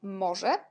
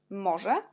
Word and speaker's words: może: Może, parce que Z avec petit point et RZ, on prononce je, comme par exemple je suis en français.